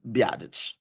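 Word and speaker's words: Biadasz: It's biottage. Okay. I don't know if anyone's ever seen how his name is spelled. B I A D A S Z is Bottage.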